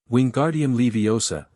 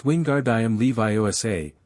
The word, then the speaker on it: Wingardium Leviosa: Wingardium Leiosa, he shouted, waving his arms like a windmill. You're saying it wrong, Narudo heard Hermione snap. It's Wingard Leviioa. Make the gar nice and long.